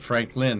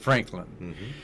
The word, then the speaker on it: Frank Lynn: Yeah, and that's how they say it, Frank Lynn, not Franklin.